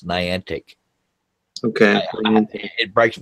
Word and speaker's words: Niantic: just say all no it's not night anak it's Niantic okay I mean it